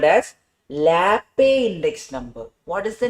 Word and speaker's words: Laspeyres: First type of weighted index number is called by a name called as Laape index number. What is the name, da? Laape. Some people would have called it in school like Laspeyres.